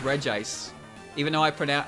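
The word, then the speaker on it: Regice: even though it's pronounced regis even though i print out i pronounce it like there's two eyes in its name like reggie ice it's regis it's not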